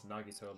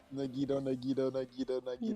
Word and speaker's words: Nagito: pet peeves is when people pronounce Nagito like taquito, with the emphasis on the I instead of the na. It sounds Nagito. terrible to me. Nagito.